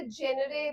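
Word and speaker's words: genre: तो कैटेगरी की जगह प कैन say what जनरा of movies do you like what जनरा ऑफ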